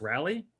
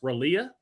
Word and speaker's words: Raleigh: remember Chad Ochocinco uh didn't realize how to pronounce Raleigh correctly. He thought it was pronounced Ralea.